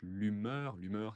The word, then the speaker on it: humeur: D'humeur ou d'hygiène de vie, d'humeur, attention, on ne prononce pas le H, l'humeur, c'est est-ce que je suis heureux, je ne suis pas heureux, je suis triste, comment je me sens.